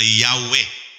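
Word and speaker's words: Yahweh: yan A and E Yan po ay Y w h wh y po yan hindi mo hindi mo kayang bigkasin ang ang pangalan ng Diyos kaya lang po yan nilagyan po ng ah bowels nilagyan ng a at saka is sa pagitan para mabasa po na yahwe o yehova pero Yan po ay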